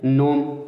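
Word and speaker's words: gnome: Resign देखिए, नोम, इसमें सब साइलेंट है।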